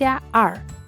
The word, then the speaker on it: 二: The number two is pronounced (er4) and the tone is the fourth, the letter "e" to pronounce you have to put your mouth as if smiling, the tongue a little